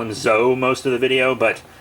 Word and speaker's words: ZO: now we're doing his uh predecessor kamen rider zetto or zou i'll probably call him zoe most of the video but zecto is the karenic uh pronunciation so kamen rider zetto is a movie